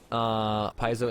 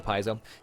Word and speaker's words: Paizo: main feature of this games and mythic paths Paizo introduced I always say it wrong paisa Paizo introduced mythic character progression is basically at this